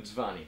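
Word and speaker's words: Mtsvane: So, Kate, perhaps you would demonstrate the best way of drinking the wonderful Mdzwany grape grown in the Kakheti region. So how did you pronounce that? Say it again. Mdzwany.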